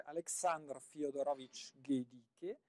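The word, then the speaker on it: Александр Фёдорович Гедике: Novecento, ma affascinante, veramente affascinante, che si dovrebbe pronunciare Aleksandr Fyodorovich Gedike, intitolata questa sonata in La, intitolata anch'essa La Primavera, quindi sarà tutto un concerto primaverile in piena estate.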